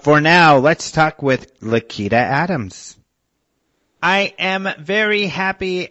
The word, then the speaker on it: Lakita: well I love your name by the way lakita am I saying it correctly you are that